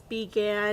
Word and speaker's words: began: then they'll also have began so that B that first syllable is open so it's began there's a few more